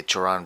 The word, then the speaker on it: Cioran: philosopher, Emil Cioran, or Emil Cioran, or whichever way you want to pronounce his name. Emil Cioran, I will say Cioran because I'm a Romanian and I got used to it being pronounced that way.